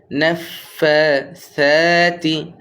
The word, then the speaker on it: النفاثات: ওয়ামিন শাররিন নাফাসাতি সাটা নরম করব, জিহ্বার আগাটা সায়ের সাথে লেগে যাবে, দাঁতের সাথে লেগে যাবে।